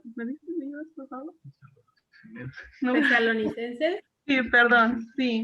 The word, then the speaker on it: Tesalonicenses: Esto, perdone, no lo puedo pronunciar todavía muy bien, pero ¿me dices por favor? No. Tesalonicenses. Sí, perdón, sí. Tesalonicenses.